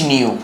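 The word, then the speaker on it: ν: মানে কি বল কম্পাঙ্ক নিউ মানে কম্পাঙ্ক এটার উচ্চারণ নিউ এই যে নিউ এটার উচ্চারণ হচ্ছে নিউ ড্যান্স করাবি ভি না ড্যান্স করাবি ভি টা একটু ড্যান্স করবে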